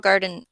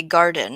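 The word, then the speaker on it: Gardyn: much fancy this is I believe you say Garden is how you pronounce this g a r d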